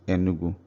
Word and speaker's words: Enugu: So Enu Ugu is pronounced Enugu.